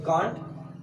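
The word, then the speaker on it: can't: तो इसको कांट हम लोग पढ़ते हैं ब्रिटिश में, और अमेरिकन में बोलेंगे कैंट।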